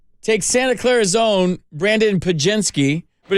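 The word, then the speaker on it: Podziemski: so the Warriors take Santa Clara's own Brandon pagenski but it's spelled p-o-d-z-i-e-m-s-k-i or ichart Brandon eye chart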